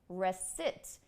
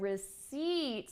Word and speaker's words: receipt: is a short I rest it sorry she said rest it rest it I versus e in the word re seats we actually have a long eye sound and that will certainly